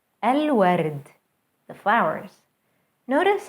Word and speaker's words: الورد: الورد, الورد, the flowers. Notice how moon letters allow the L to be pronounced fully.